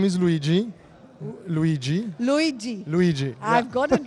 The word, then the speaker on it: Luigi: your name my name is luigi luigi luigi luigi i've got it right that's the right pronunciation thank you thank you so your take